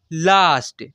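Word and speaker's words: last: मेरे भाई यहां पर जब ए के बाद एस टी या एस के आए तब तब भी ए का उच्चारण आ से होगा यानी आ से करते हैं ऐसे पढ़ सकते हैं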